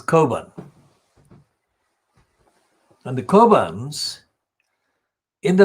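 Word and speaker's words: Cockburn: type paper of course the kerbans spelt c-o-c-k b-u-r and burn but it's an irish so its pronunciation is carbon and the kobans in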